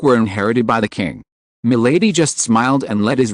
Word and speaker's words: Milady: "Yes, lady, and in French it is pronounced Milady.